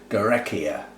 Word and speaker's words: Guarechea: a type maybe but it's it's actually a gorecki and pronounceable names g-u-a-r-e-c-h-e-a gorekia i suspect orga black comet anyway and how